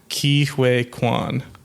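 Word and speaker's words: Ke Huy Quan: I tried to look up how to pronounce it. I looked up a YouTube video. I think it's Key Wake Quan.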